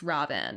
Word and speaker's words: Raven: Um Ravi Ravi-en. Ravi-en. Ravi-en. It's spelled like Raven, but it's pronounced Ravi-en.